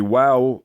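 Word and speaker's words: واو: pronounce the noon uh the wow is like wow what a great deal that is so that's simple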